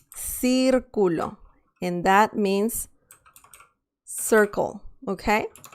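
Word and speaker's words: círculo: with this other uh sound c see i can say circulo sir culo and that means circle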